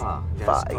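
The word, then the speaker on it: phở: That's pho.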